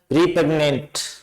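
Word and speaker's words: repugnant: Sound दे रहा है, रिपेग्नेंट। तो ये आर ई से आपके छोटी ए की ध्वनि आ रही है, और सेकंड पार्ट इसको स्ट्रेस किया हुआ है, तो रिपेग्नेंट ये आपका प्रोनाउंसिएशन हो गया, पार्ट ऑफ स्पीच में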